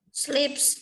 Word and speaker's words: sleeps: Sleeps.